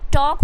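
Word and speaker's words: talk: में आया हुआ है तो यहां प एल आप आंख बंद करके साइलेंट कर दीजिए तो क्या हो जाएगा टॉक हो जाएगा उसी तरीके से वक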